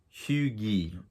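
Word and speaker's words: hygge: denmark you know very haggy like or huge she actually tells you how to pronounce it it's huge um h-e-w g-u-h so it looks more like huge or huge um and she goes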